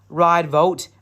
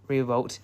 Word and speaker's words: Revault: Ride vault. Unloads an A. Oh, Revault. Sorry, I thought it was German pronunciation.